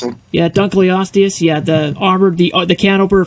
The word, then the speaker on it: Dunkleosteus: Is that how you pronounce it? Yeah, Dunkleosteus.